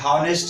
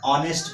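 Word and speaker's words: honest: ऑनेस्ट बॉय है, ऑनेस्ट बॉय में आपको क्या करना है, ऑनेस्ट बॉय में एच जो है वो साइलेंट है, हॉनेस्ट नहीं पढ़ना है, ऑनेस्ट पढ़ना है एंड is your Wavell sound and that's why you have to use here.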